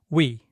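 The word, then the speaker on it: ㅟ: So quickly spread your lips to the sides to make the e sound. What sound does that give you? It's we. A long time ago, this letter had a different pronunciation that didn't involve changing the shape of the lips. But that version is a bit tricky. So these days, Koreans pronounce it by smoothly moving from the U shape to the E shape like this.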